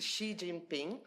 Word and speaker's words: Xi Jinping: So I would like to invite you to pronounce the right family name of your president, but I think it's Xi Jinping. It's correct? Great.